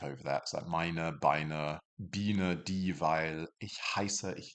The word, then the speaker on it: Biene: If you see an IE, you're pronouncing it like the English E. So it's die Biene, die Biene, the bee.